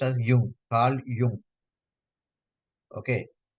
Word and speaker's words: Jung: This is pronounced as Jung, Carl Jung.